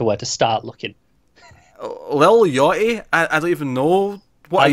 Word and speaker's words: Yachty: And I'm assuming it's Yachty, because it's spelled like yacht with a Y at the end. Yeah, it's got to be Yachty.